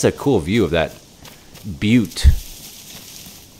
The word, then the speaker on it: butte: But I mean, that's a cool view of that butte. Butte is how it's pronounced.